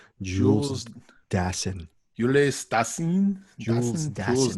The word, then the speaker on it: Dassin: I'm giving you the correct pronunciation. Jules Dassin.